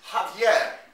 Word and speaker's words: Javier: name in a movie my real name is javier which i pronounce in the cathedral manner is just disgusting